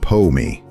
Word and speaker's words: po-me: The fourth example is Pomi, 2 syllables, Greek poimen, shepherd.